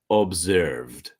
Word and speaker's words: observed: sound track to observe observed so the E is silent okay so monitored tracked